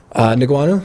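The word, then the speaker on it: Ngannou: How do you pronounce Francis' last name? Who? Francis' last name, big heavyweight. Niguanu?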